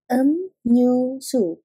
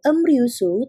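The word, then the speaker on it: 음료수: daging emsik emsik makanan em nyu su karena ada B miam bertemu dengan R sehingga tidak dibacanya sebagai emryusu tetapi dibacanya sebagai emnyusu emnyusu minuman Ot ot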